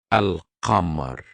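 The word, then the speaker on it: القمر: We say al-qamar. We did pronounce a lam, and another example throughout these moon letters which starts with al-ba, the door, al-bab, al-bab.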